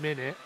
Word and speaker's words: Minit: Another indie game, Minute, but it's spelled MINIT.